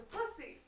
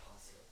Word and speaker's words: posse: I think you're what they call the pussy. What? Hey! The posse. It's pronounced posse.